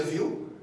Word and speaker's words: Vue: Aí aqui eu dei um Ctrl+C, Ctrl+V na definição que está lá na documentação do site oficial, que Vue, né, se pronuncia Vue, ele é um framework progressivo e para a construção de interfaces de usuário.